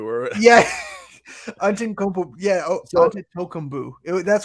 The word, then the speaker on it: Antetokounmpo: It was like onto Tokumbu or yeah, Antetokounmpo.